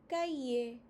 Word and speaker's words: cahier: The H is silent, so cahier.